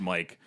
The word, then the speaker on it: Mic: pronounced every other way I think it's supposed to be pronounced Mike but I feel like a lot of people pronounce it Mick I actually did for